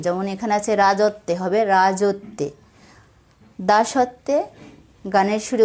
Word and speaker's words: রাজত্বে: এই শব্দগুলোর মাঝখানের অক্ষর ওকার সহযোগে উচ্চারিত হবে। যেমন এখানে আছে রাজত্বে, হবে রাজত্বে।